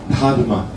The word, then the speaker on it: Dharma: A pronúncia certa é Dharma. Dharma. Esse H depois do D é o D aspirada. Ta. O D seco é da. O D aspirado é ta.